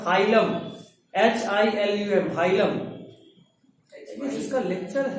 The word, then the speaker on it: hilum: हाँ, is a notch called ये सब notch, N-O-T-C-H, notch called hilum, H-I-L-U-M, hilum। इसका लेक्चर है YouTube पे। नहीं नहीं नहीं नहीं नहीं हाइलम की स्पेलिंग सर H-I-L-U-M, hilum। हाँ HY LUM हाँ, hilum, through which the ureter,